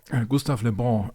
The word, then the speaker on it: Gustave Le Bon: I may have butchered that. How do you say it? Gustave Le Bon. Le Bon actually means the good one. Okay. It's Gustave Le Bon.